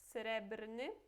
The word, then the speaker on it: srebrny: Srebrny, srebrna, srebrne. Interessante, né? Porque a gente pronuncia todos esses R. Temos srebrny, brny. Esse BR é br mesmo.